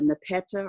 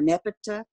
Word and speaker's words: nepeta: But as you can see now, the nepeta or nepeta, I've heard it pronounced both ways, has kind of taken over the bed.